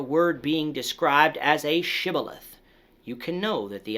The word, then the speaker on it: shibboleth: if someone said sybileth instead of shibboleth after being asked if they were an ephemite the men of gilead determined that this person was lying and they would be killed on the spot today sometimes you